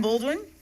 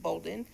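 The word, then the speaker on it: Boulden: Baldwin, I hope I'm saying your name right, followed by Nicole Gaines. Hi, Last name is B-O-U-L-D as in dog. It's actually pronounced Bolden.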